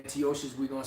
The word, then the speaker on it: Antiochus: epiphanies which you know you pronounce it Antiochus but you know we're so used to saying antias we going to say